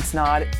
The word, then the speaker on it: Snod: My name's Snod. It rhymes with odd, and we'll see you in next week's video.